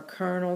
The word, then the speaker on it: colonel: 17 is colonel, that's a tricky one. This is like a colonel in the army or Colonel Sanders of KFC. So colonel is how you pronounce it.